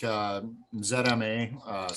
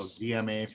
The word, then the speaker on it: ZMA: I'm one of the people that can have really bad insomnia, so I take ZMA, so DMA for you Americans. we pronounce it differently up here, and that's it's got